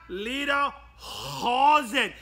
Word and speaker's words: Leaderhosen: leader calls it you must say from the back of your throat there everyone said with